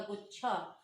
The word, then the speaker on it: गुच्छा: Okay, यहाँ पर उच्चारण जैसे इसका हो रहा है, इस पर जोर देकर बोला जाएगा, गुच्छा।